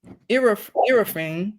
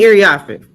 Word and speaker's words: Iriafe: And also joining her, the number 4 pick, Kiki Irafine. Say her name. Kiki Iriafe.